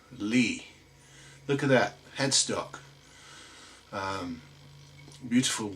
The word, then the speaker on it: Lys: It is a Lys, spelt Lys or Lys, but pronounced Lee.